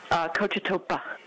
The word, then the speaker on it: Cochetopa: Proper pronunciation is Cochetopa. I've heard it described as Cochetope.